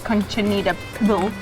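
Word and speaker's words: Cochinita Pibil: My advice is to try this Conchinita Pibil.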